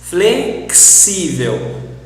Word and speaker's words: flexível: anexar, fixar, ortodoxo, oxigênio, flexível, yes, this is very hard, flexível, fixar, this, try to pronounce this KS, flexível, ortodoxo, ortodoxo, fixar, fixar, fluxo.